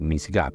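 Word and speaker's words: מִשְׂגָּב: Es una palabra un poco difícil de pronunciar, pero así es como se lee, misgab. Y ese misgab quiere decir amparo o un lugar elevado o inaccesible.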